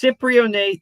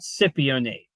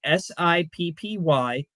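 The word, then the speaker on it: cypionate: AJ says it's Cyprionate, not Scipionate. Well, AJ, I have the live read right here, and it's spelled phonetically SIPPY-O-NATE. There is no R.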